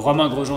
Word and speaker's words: Romain Grosjean: got romaine mine roman ghost gene gross giant i don't blame anyone i know it's a it's a very hard word to say for example availability in english is a word that i can't pronounce properly i'm really struggling so i don't blame anyone for you know getting my uh my name kind of wrong so roman rojo was the perfect pronunciation i would go by